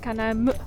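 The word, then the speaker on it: Kanaimö: In the Pemon language, Canaima is written with two dots and pronounced Canaimö.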